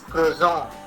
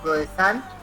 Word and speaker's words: croissant: There is no T there.